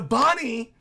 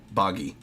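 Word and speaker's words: Bonney: I'm sorry about that boggy boggy it's Bonnie Bonnie you hear me Luffy's still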